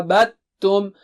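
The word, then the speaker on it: عَبَدتُّمْ: Ma abattum. You don't pronounce dal here.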